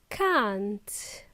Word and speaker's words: can't: The word can't, which is a contraction of cannot, okay? Can't. It's a long sound.